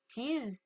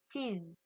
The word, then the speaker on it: sees: Donc, vous entendez bien la différence entre see, sees. Je prononce bien le S.